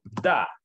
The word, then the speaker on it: the: tiene que poner esto, da. Siempre se tiene que poner ese T-H-E que se pronuncia da.